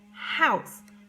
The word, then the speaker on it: house: Here we have O-U, ow, ow's, house. Notice the E is silent, okay?